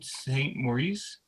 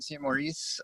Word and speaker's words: Saint Maurice: then martin saint maurice i hope i pronounced that right and is he under paula or pamela's phone yeah yes there you go can you hear me yeah hello hello yeah hi uh my name is martin c maurice i'm so you did pronounce it right i'm at 2324 west